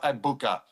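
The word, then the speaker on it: Egbuka: two weeks, but now everyone told me the G is silent.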